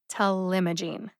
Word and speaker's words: talimogene: is telemajine telema gene has four syllables see if you can hear them telemagine to limogene the second syllable m gets the emphasis punch it tell limogene telemogene the second word intelimogene